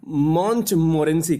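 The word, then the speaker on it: Montmorency: ये महोदय देखिएगा, इनका स्पेलिंग जो है नाम का वो है MONTMORE, ये ई है, NCY, ये ENCI, मॉन्टमोरेंसी, ये है डॉग का नाम।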